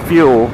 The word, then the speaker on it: Fuell: So it's Fuel, but spelled like Buell with an F instead of the B.